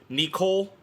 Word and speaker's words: Nicol: But then I hear like nickel, like the 5-cent piece. I hear it more with an E, like the I pronounced as an E, like Nicole Bolas.